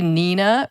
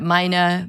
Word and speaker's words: Mina: were people call Mina a lot of people just think say Nina for some reason even though obviously it starts with an M uh and then uh Mina Mina yeah it got